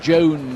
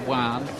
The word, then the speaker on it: Joan: the heavy favorite here Juan Gman it looks like Joan Gman when you look at the name on paper but it's pronounced Juan just as well for